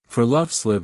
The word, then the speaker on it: friluftsliv: It's called friluftsliv. And it's about far more than just going outside. Friluftsliv is pronounced free-loofs-leave.